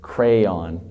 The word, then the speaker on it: crayon: It's got too many letters to be one syllable. It's crayon.